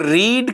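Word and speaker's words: read: तो books are और रीड की थर्ड फॉर्म प्रोनाउंस हम इसको रेड करते हैं।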